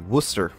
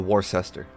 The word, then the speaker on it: Worcester: American a light cruiser the Worcester or just to trigger some people the Worchester any way you want to pronounce it I don't care I'll bow just call it the Worcester because I guess that's how it's actually pronounced anyway enough with my poor